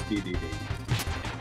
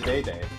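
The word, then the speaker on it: Dedede: day D day I like I think they pronounce it DDD I think and brothers yeah in Smash Brothers It's DDD but we always said the day day yeah I picked it up from I think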